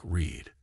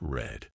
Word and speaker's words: read: to keep things interesting read in the present is pronounced like Reed but in the past it's red mind blown and why